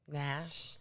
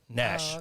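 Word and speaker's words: Gnash: i say nashville predators nash that's his name nash with a g g-n-a-s oh that's stupid yes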